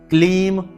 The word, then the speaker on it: क्लीम: यहाँ पर ह्लीम है, ह्रीम नहीं, ह्लीम, लीम, ह्लीम श्रीम क्लीम, यहाँ पर क्रीम नहीं, बहुत से लोग क्रीम कहते हैं, क्रीम नहीं, क्लीम नमः।